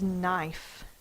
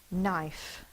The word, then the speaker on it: knife: singular word is knife knife the last sound is a f the silent E is making the I say its long sound I the K is silent because it's in a silent consonant blend we will drop the